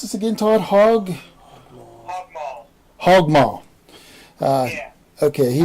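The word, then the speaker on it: Hog Maul: How do you pronounce this again, Todd? Hog Mall.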